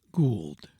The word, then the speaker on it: gold: usage to say Clark, cowumber, not cowcumber, and gould lutinant lieutenant. There is not sufficient authority, the true pronunciation being lev tenant.